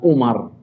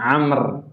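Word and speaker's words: عمرو: Amr bin As, Amr, Ain, Mim, Ra, Waw, bacanya bukan Umar, bacanya Amr ibn al-As radhiyallahu anhuma.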